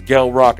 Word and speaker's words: Gel Roc: It's Gelrock, not Gelrock. Pronounced with a hard G for the appropriate introduction.